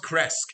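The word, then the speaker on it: Krezk: damn it pete get your names together it's pronounced cresc it's right now chris was the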